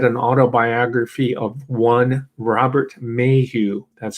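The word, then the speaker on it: Maheu: when i read an autobiography of one robert mayhew that's spelled m-a-h-e-u and if you've been following the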